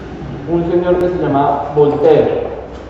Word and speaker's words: Voltaire: Un señor que se llamaba Voltaire. Acuérdense que son franceses y en Francia la E final no suena. Voltaire.